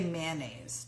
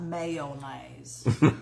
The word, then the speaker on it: mayonnaise: Do you say you say mayonnaise? 2 syllables, not mayonnaise.